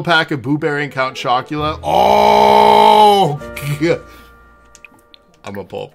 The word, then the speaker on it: Chocula: Count Chocula? What's Count Chocula? Chocula. How do you spell that? Chocula. Like Dracula, but chalk.